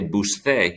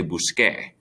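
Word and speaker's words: busqué: of just the a you have to change the c to a q u otherwise because c can make a soft c noise you don't want to say buste you want to say busque so to spell it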